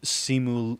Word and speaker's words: Simu: enjoyed the dynamic between simul liu and aquafina by the way if anybody's wondering how you pronounce simulu his name is simu so s-i-m-u simu and then his last